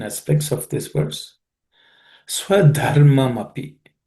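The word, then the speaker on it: स्वधर्ममपि: Swadharmamapi. In the first word, Swadharmamapi, the word the second letter, the is an aspirated consonant, so make sure that you pay attention to that.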